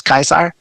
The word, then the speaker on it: Caesar: I got it wrong because it's actually not pronounced Julius Caesar despite what we all say it's actually Julius Kaiser all Roman Seas have a hard sound so